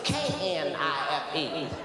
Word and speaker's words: knife: She said the K is silent.